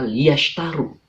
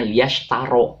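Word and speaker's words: لِيَشْتَرُوا: Tapi jangan bacanya liyashtaro, tapi liyashtaru. Nah, jangan liyashtaro. Kalau bacanya liyashtaro nanti dimarahin oleh Pak Ustadz.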